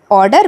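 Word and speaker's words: order: ऑर्डर में आर भी थोड़ा साइलेंट होता है, हम ऑर्डर प्रोनाउंस करते हैं, ऑर्डर नहीं बोलते।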